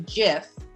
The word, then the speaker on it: GIF: team that invented the gif the now widely used moving image format blah blah blah he says it's a soft g pronunciation and it's a deliberate reference to jif peanut butter ha ha what i